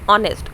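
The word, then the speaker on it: honest: अब मैं आप लोग को बता दूं कि हमारे पास एच जो है यहाँ पर वो साइलेंट है। ऑनेस्ट, ऑनेस्ट को जब प्रोनाउंस करें किस चीज़ का हमारे पास साउंड आ रहा है?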